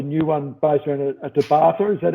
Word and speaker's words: Tabata: But I do a lot of circuits, as you know, and I developed a new one based around a Tabata. Is that how it's pronounced? Yeah. Tabata workout.